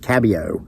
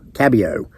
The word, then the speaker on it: Kabew: That's Virgie, and I had to write down how to pronounce her uncle's name because it's spelled Kabew, like Kabu, but it's pronounced Cabio. Cabio.